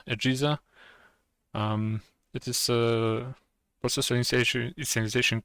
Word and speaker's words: AGESA: AGESA, which stands for AMD Generic Encapsulated Software Architecture, pronounces somewhat like PISA, AGESA.